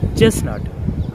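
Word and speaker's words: chestnut: যেমন চেস্টনাট, চেস্টনাটের ক্ষেত্রে এখানে কিন্তু মাঝখানে টি এর উচ্চারণ হবে না, এখানে মাঝখানে টি সাইলেন্ট থাকবে, কিন্তু এই টিটা কেন সাইলেন্ট থাকছে তার কোনো নিয়ম নেই এখানে।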